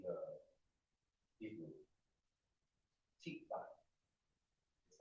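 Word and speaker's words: תקווה: Tikva is how it's pronounced. Tikva.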